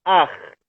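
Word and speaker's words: Akh: E tem uma coisa que nós chamamos Ar, a pronúncia é assim, Ar. A-K-H, assim se escreve em português. Ar, Ar. A pronúncia, se tivesse um J como os espanhóis, podia ser J, Ar, Ar.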